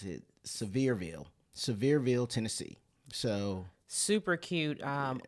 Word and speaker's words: Sevierville: 2 Rivers Landing in uh I think it's pronounced um it's a severeville Sevierville Tennessee so super cute um RV Resort um